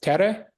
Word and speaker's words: Tere: Is it Ah, Tere? tere. Yeah. Tere. Yeah.